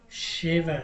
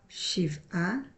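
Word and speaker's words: שבע: Ma'asim ra'im lifnei shiv'a. Sheva. Nashim. Tovot. We're talking 7 about good women. We're talking all feminine here.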